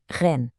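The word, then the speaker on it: 人: Primeiro ren, que se pronuncia rena, pessoa.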